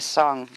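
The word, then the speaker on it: esayn: in infinitely aware is the word esson which is e-s-a-y-n and it's pronounced s on like e-s-o-n so and you'll see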